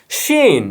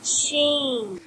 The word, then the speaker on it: Qin: এফ 21 pro plus but এই কিউআই এন কি হয় কিন কিন্তু আমি যখন গুগল করলাম বা চাইনিজদের কাছ থেকে জানতে পারলাম এটার উচ্চারণ হবে শিন আবার শুনুন শিন তাহলে হলো কি শিন এফ 21 প্রো সো